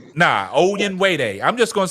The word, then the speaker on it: Onyenwere: Michaela Onyewaye.